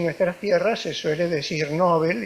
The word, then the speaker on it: Nobel: siglo de que le fue otorgado el premio Nobel este yo me siento muy bien acompañado por